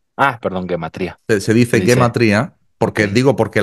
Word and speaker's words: gematría: perdón gematría se dice gematria porque digo porque la palabra es hebrea y se pronuncia en hebreo así eh Ah claro Okay